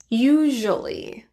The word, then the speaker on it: usually: usually dropped take a look at some examples usually actually eventually gradually individually manually virtually similarly you'll